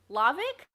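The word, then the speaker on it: Hlawek: right yes okay uh so i think it's uh lavik i'm sorry that's better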